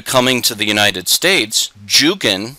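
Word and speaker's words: Dzugan: to the united states juggin which is spelled with a j was actually spelled zhugin d-z-u-g-a-n d-z in polish sounds like jay so this was probably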